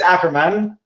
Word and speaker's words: Ackerman: No, it's Ackerman, okay, but that's fine.